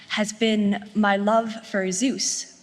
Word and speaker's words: Zeus: been my love for Zeus pronounced zus in ancient Greece Greek as a young queer